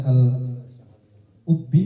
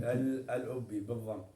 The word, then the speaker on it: الأبي: المشهور البعض ينطقونها الأبي Al-ubbi. الأبي بالضم، والبعض يقولون الأبي أو الأبي. لا، أما الإبي، الإبي هذه نسبة إلى منطقة في اليمن اسمها إبي. أما هذا لا، الأبي هذا المشهور، هذا الأبي.